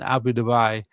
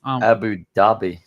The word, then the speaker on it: Abu Dhabi: Zhao uh who now lives in Abu Dubai told the crowd that he's been advising a dozen governments on how to introduce more favorable crypto regulations. He was very pronounced Abu Dhabi.